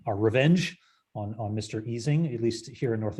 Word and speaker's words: Ising: revenge on on mr easing at least here in north america we we almost universally mispronounced his name as is ising not not easing so it wasn't until